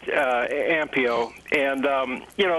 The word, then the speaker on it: Ampio: amp amp EO Pharmaceuticals is that Chris at the correct pronunciation that was right it that's correct ampio and you know it's